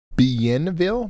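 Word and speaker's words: Bienville: It's pronounced Benville. Benville, really?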